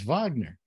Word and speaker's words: Wagner: Wagner yeah and also in that part of the world it would be pronounced with a V uh so it's Wagner but I mean this